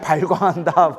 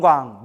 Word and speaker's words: 방광: 그때 세종께서 온몸으로 큰 빛을 놓아 이걸 방광이라고 해요. 뭐라고 해요? 방광. 발광이라고 하면 안 돼요. 우리 지랄 발광한다. 이렇게 표현 쓰잖아요. 그러니까 발음을 잘해야 돼요. 불교선 뭐라고 한다? 방 방광 노 빛을 놓으셨다.